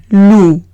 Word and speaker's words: loup: La siguiente palabra es loup. Loup. Veo una O y una U, se lee como una U española. La P al ser consonante final no se pronuncia, entonces el conjunto es loup.